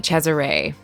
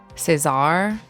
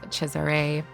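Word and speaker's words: Cesare: mind um I never looked up how to pronounce uh chesiree which is how you pronounce his first name I think I was in my mind and probably in my reviews was saying like Cesar um it's c s a r e and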